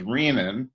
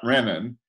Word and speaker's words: renin: for a moment this the pronunciation is riemann not Renan Bremen is actually an